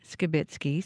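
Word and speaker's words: Skibicki: through the court proceedings Jeremy skitzki pronounces his name skitzki so we will now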